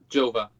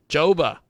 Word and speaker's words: Gjova: Gjova. Gjova. So the G is silent.